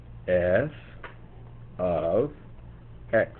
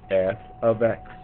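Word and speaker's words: f(x): so you guys can see it this is pronounced f of x f of x what does the f stand for the f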